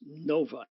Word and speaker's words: Novi: the convention itself is going to be in Novi Michigan which is a suburb in the northwest corner of the Metropolitan Detroit area uh and yes it is pronounced Novi and just a quick comment for the folks